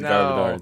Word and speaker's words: Garbodor: garbor first because I didn't know how to pronounce the name so I wrote trouish oh no yes it is garor sweet good a that's all right good job